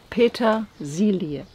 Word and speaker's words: Petersilie: Petersilie.